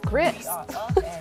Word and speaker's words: gris: It's pronounced gris. It's French for gray.